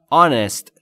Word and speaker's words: honest: میبینید که H-ش ناخواناست و honest تلفظ میشه.